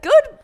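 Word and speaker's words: Gou: So you think that it is actually just supposed to be Go, not Ko?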